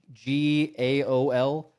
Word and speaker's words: gaol: It's like GAOL. That's how Elden Ring does it too. Yeah, Elden Ring. Yeah, yeah. the real old timey, speaky way of saying jail.